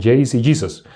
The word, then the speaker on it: Jesús: significa su nombre Jesús nosotros pronunciamos Jesús en español en Estados Unidos pronuncian de una manera diferente Ahí no dicen Jesús Sí está bien allá dicen jayceos en hebreo en griego